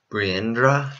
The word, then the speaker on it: Birendra: But with the threat of communism, the leader, King Birendra, I believe is how it's pronounced, agreed to transform the country into a parliamentary monarchy.